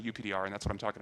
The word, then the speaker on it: UPDR: co-authors, developed this algorithm, which I will pronounce UPDR. For whatever reason, when they talk about it out loud, they always call it UPDR, and when they write it in papers, they always call it PDR superscript for all.